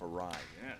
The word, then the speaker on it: awry: Use that word enough, awry. Yes. It's awry. You said it right.